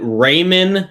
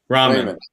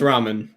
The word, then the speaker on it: ramen: yeah yeah you look great but did you pronounce it Raymond Noodles yeah that's how they're pronounced Raymond knows Ramen it's it's Ramen I see Raymond are you sure it's not